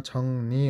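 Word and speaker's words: 정리: किताब राख्ने तर मिलाउनु यहाँ छंगरी लेखे ता पनि उच्चारण छंगनी हुन्छ है मुनि फाम झुन्डेर आए लगात पछाडी बाट र आएमा र को चरण न भनेर हुन्छ छङनी हादा हुन्छ है त्यसैगरी फांगुल ताक्ता कोटा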